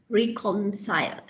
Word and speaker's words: reconcile: Reconcile. Re? Reconcile. Reconcile. Reconcile. Reconcile. Reconcile. Reconcile. Reconcile. Reconcile. Reconcile. Reconcile. Reconcile. It's not reconcile. Reconcile, reconciliation. So please reconcile the accounts, not reconcile the account.